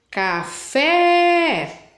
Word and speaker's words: café: Então, elas têm acento, a última sílaba é a mais forte, né? Se eu chamar o parabéns, parabéns, vou chamar o café, café.